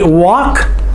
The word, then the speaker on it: walk: By the way, walk, the L is silent.